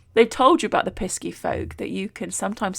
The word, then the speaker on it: pisky: might have caught on I have been pronouncing it pesky and not necessarily pixie no pixie is the version you have probably heard and pixies belong in